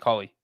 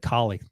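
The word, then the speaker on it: Culley: coach's name breach david cauley oh you said it right that time you said kali the last three times what crazy talk yeah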